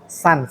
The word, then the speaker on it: Sans: Sans. Oh, Sans Batam. Bacanya Sans bukan Sun ya.